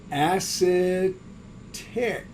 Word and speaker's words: acetic: this is an ate so acid tick acetic is the way we pronounce that acid here's sulfate h2so4